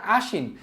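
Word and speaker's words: আশ্বিন: যেমন আশীন এই আশীনের ক্ষেত্রে কিন্তু দেখা যাচ্ছে পদের মধ্যে বলতে এইযে পদের মধ্যে কিন্তু একটা বফলা আছে তো বফলা থাকার কারণে যার সাথে বফলাটা আছে তালিবাস তালিবাসটা কিন্তু কি আছে দুইবার দ্বিত উচ্চারণ হইছে এখানে একটা স আছে এখানে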